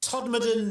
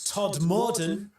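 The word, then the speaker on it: Todmorden: Some of the other popular ones, Sorby Bridge in the Dales, Massum, Toddan, not Todd Morton, and Nesbra.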